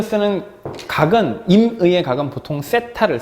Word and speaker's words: 세타: 그런 것처럼 이 삼각형, 물리에서 쓰는 각은, 임의의 각은 보통 세타를 써. 번데기 발음이지? 세타?